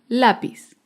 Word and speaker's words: lápiz: ejemplo es la palabra lápiz lápiz es una palabra grave porque se acentúa en la penúltima sílaba lápiz un ejemplo de